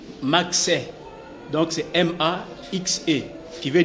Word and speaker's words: Maxe: C'est pour dans la prononciation, on a toujours dit Max.